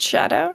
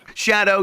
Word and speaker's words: Scadu: softw yeah go ahead they're apparently pronounced shadow shadow yeah because it's like right CU it's a shadow tree yes but it's